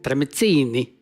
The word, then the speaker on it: tramezzini: Like I told a friend of mine, like the only way to pronounce tramezzini is like this. Tramezzini.